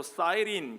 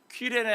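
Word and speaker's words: Cyrene: 구레네, 영어 발음으로 사이린 그렇게 읽는데 이미 말씀드렸죠. 그대로 라틴어식으로 읽어보면 퀴레네 학파 들어보셨어요?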